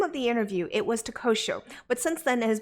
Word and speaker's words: Tehuatl: So we're going to be talking Takosho. Did I pronounce that correct? Yes, you did.